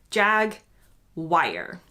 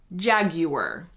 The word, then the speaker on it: Jaguar: So yes, most Americans do say this word like jag-wire. In the UK, you will mostly hear people say Jaguar.